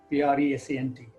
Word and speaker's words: present: play isn't present and the accent the stress falls on the first syllable not on the second syllable but when the same